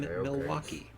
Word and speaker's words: Milwaukee: of the city name Milwaukee. Actually, it's pronounced Milwaukee, which is Algonquin for the good land.